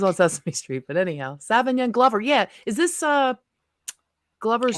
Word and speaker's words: Sauvignon: Sauvignon.